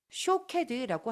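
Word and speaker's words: שוקד: 놀라운 것은 히브리어로 아몬드를 샤케드라고 합니다. 오른쪽에서부터 푸프 달레트 문자가 보이지요. 히브리어로 지켜보다는 쇼케드라고 합니다. 똑같은 히브리어 문자들을 사용하고 발음만 조금 다를 뿐입니다.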